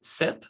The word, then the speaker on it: CYP: as you can tell sip cyp is pronounced as sip so you'll hear about